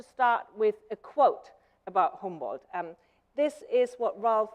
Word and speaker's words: Humboldt: help that I say Humboldt which I noticed that you also say homeworld instead of saying humbled which is the American Way of pronouncing it because if I would